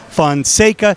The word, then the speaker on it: Fona: really super sophomore Pedro we've heard your name is pronounced as fansa fona fona can we hear it straight from your mouth uh it's fona okay yeah now Pedro uh